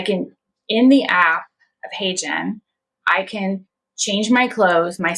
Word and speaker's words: HeyGen: Yeah, so HeyGen, spell it. What is it? HeyGen.